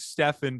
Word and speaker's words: Steven: you on the pod my name is stefan by the way i know it's spelled like steven but um it's uh a